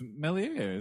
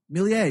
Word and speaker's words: Méliès: No, it's Méliès. Oh, Méliès, you're right. Yeah, I said it wrong.